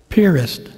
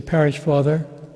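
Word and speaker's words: Piarist: and i am a purist father that's spelled p i a-r-i-s-t we pronounce it purist like where you put a boat at a pier and then put an ist on the end of it i have to say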